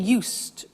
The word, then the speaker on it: used: So, I'm getting used to speaking Italian every day. Listen to the pronunciation. I said used with a T sound.